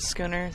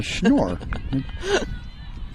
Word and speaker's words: Schnorr: A lot of people call it schooner. Schooner? No, Schnorr.